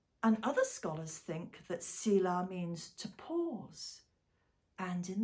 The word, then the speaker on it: Selah: It's spelt S-E-L-A-H and pronounced in Hebrew, I think, Selah.